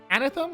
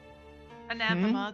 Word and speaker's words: anathema: Anthem. An anthem. An anthem to everything she believes in and stands for. Anathema technically, but it's it's the same.